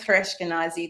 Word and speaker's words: Chouraeshkenazi: So my last name is Hareshkenazi. The C is silent, but Okay.